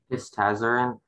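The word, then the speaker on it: hystazarin: Histazarin? Can I have all the information, please? Yeah, the only pronunciation is histazarin.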